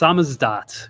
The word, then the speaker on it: SZDT: It's pronounced Samizdat, which is kind of an inside joke.